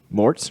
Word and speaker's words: Marot: we had here mort's rhymes with shorts on she's one of